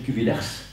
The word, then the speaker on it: Cuvillers: Ça s'écrit Cuvillers, mais ça se prononce Cuvillers, à la française.